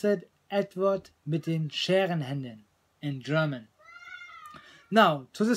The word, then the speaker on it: Edward mit den Scherenhänden: You pronounce it Edward mit den Scherenhänden in German.